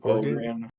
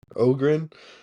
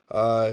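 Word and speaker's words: Öhgren: yeah, So and then Orgl how, how do you pronounce his last name? Organ? Ogren. Ogren, first round pick.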